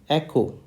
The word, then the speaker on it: Echo: letter that is e the phonetic spelling of letter e is c k emphasize this o h okay how do we speak this echo echo echo okay so instead of